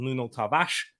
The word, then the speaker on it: Nuno Tavares: Cedric Suarez is at left back over Nuno Tavares. And do you know what? Or Nuno Tavares, as you meant to pronounce it.